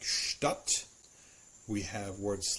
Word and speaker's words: Stadt: SCH, the combination of ST and SP are pronounced very much like a sh followed by the t or by the p sound. So we have words like Stadt, we have words like Spatz, we have words like Spitze.